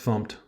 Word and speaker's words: fmt: using a package called fmt usually pronounced fumed from the standard Library